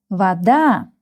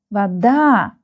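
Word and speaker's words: вода: We read the the word vada. The stress is here vada.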